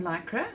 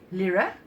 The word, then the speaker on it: Lyra: um these markers from lycra or Lara sorry Lyra the pronunciation is Lyra it's aqua brushes doer